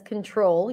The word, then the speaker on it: control: yes Miriam you're right but what about that second o is it O A would I pronounce it as o as a or as uh control control or control okay there is a clear winner here and you are all right it is the long o as in go so